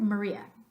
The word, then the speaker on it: Maria: in Spanish ah but do you hear me pronounce the sound ah at all when I say Maria Maria no both of those A's in English are pronounced ah which is the schwa upside down E Maria great in English Pennsylvania no